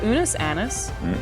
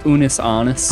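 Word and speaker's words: Unus Annus: It is called Unis anis. Did I pronounce that correctly? No. How is it pronounced? Unis honest.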